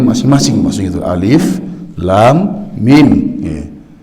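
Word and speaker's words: Alif Lam Mim: dibacanya masing-masing masih itu alif.lam.mim jangan cuma dibaca alam jadi akan tetapi alif.lam.mim fenomenal forever muqotho'ah Hai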